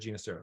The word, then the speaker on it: Ginastera: Italian pronunciation, which is Ginastera. And so many in the musical world say Ginastera. That's how I feel. But I know for a fact, Ginastera said Ginastera. So that's how we're saying it.